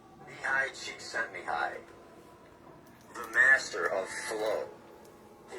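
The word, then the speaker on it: Csikszentmihalyi: I think his name is pronounced high cheek sent me.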